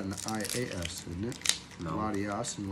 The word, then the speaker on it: Latias: The two are spelled the same, but I know you pronounce one differently. One's got an I-A-S, isn't it? No. Latias and Latios.